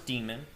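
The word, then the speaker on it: daemon: Today we're going to go over the boot sequence, the systemd demon. This is pronounced as demon, the system ctl command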